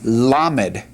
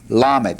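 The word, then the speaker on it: למד: All right, the next letter, let's go ahead and draw our line here so we see what we're doing, is the Hebrew lammed. Lammed.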